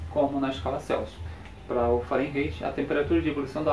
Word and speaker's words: Fahrenheit: para comparar eu tenho escala fahrenheit ou Fahrenheit como vocês querem como você fizer a pronúncia então escola Prefeito você tem aqui o ponto de pau quando eu falei era um alemão tem origem alemã tu fala eu Fahrenheit a temperatura de ebulição